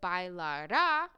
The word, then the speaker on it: bailará: Because bailará, if this had an accent, would be the future tense of he or she will dance. Without the accent, bailara, that's the past subjunctive.